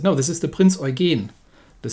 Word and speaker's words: Eugen: wrong myself first this is not the prince oregon because that would be how you would usually pronounce it no this is the prince origin the stress is is is in the rear